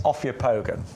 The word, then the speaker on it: Ophiopogon: Because we are going to move on to, I pronounce this Ophiopogon.